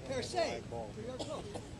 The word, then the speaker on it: perce: The British say pierce. This is cool. British say pierce. French say perce.